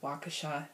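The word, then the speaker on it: Waukesha: so keep me posted I live in wakesha or wakha is actually how you say it but it's spelled like w Au U and then Kesha yeah um I got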